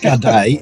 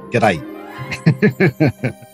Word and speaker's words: g'day: I'm in Melbourne and it's not good day it's g'day there's more Canadians here